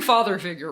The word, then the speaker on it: Father Figuer: Everyone should check out Lake Waves and Father Figure. And I'm saying Father Figure, right? Yeah, it's just straight old father figure.